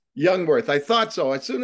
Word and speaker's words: Jungwirth: your last name cal It's actually youngworth youngworth I thought so as